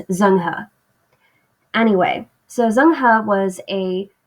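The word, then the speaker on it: Zheng He: on a guy named zanghu and i know his name looks like it's pronounced zhang he but probably the closest to chinese i'm gonna get to pronouncing it right is zangha anyway so zangha was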